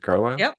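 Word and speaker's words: Carlyle: and Robert carlle mhm how did you say his name is it car y that's right okay okay about a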